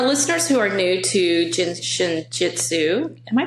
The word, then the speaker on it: Jin Shin Jyutsu: so for our listeners who are new to jinin Jitsu am I pronouncing that correctly you are pronouncing it correctly